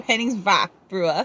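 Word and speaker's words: Henningsvær: believe called Hennings varua I learned how to say that a e the AE that is together and apparently it's a ah ah so Henning's V bre it's such a cool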